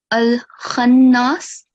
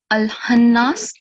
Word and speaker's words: Al-Khannas: Someone just made it previously, and here it's Al-Khannas. So, but I heard Al-Hannas. So you have to pronounce it very clearly and differentiate between the two sounds, okay?